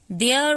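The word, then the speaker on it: there: देयर वाज an elephant named इला, एला। तो देखिए देयर, इसको हम कैसे, थेयर नहीं पढ़ेंगे, देयर पढ़ेंगे, इसको हम द बोलते हैं, THE देयर।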